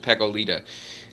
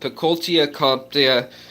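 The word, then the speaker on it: Peckoltia compta: Okay, I looked at it, how to say it exactly right. I think I said Pecolita. But Pecoltia comptia is the Latin name, and these guys are going to be beautiful adults.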